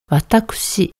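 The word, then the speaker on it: わたくし: 경우는 다소 정중한 표현이고요 한자는 똑같은데 발음은 와따쿠시 코가 들어가면 여성도 남성도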